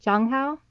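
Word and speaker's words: Zhang Hao: I think it's pronounced like a J, Jonghao, I even though just there's put a Z.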